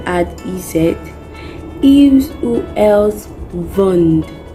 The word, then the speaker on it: vendent: Ils ou elles vendent, we add ENT, but the ENT is silent again.